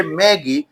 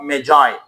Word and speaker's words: Magi: The Gift of Magi۔ Some people say Maggie، but صحیح تلفظ اس میں ہے The Gift of Magi۔ The Gift of Magi